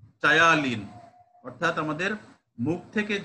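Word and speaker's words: ptyalin: The enzyme is in saliva is কি টায়ালিন, অর্থাৎ আমাদের মুখ থেকে যে মাউথ থেকে যে এনজাইমটা রিলিজ হয়, which take part the digestion of carbohydrate is called টায়ালিন। এটা কিন্তু পি উচ্চারণ হবে না, পিটায়ালিন না, টায়ালিন।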